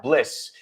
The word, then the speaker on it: bliss: Es un poco menos I, un poquito más E. Y el sonido final es zzz, right? Vale. So bliss.